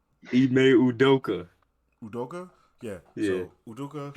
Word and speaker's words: Ime Udoka: I I know I was gonna say his name wrong. Great way to Try, begin. I don't know much about try. it. Unadoka. Yeah, great. What's his Great name? How you say his start. name? Ime Udoka.